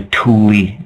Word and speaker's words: Thule: to call themselves the tully uh like t-h-u-l-e but pronounced t-o-o-l-i-e that's what atlantis was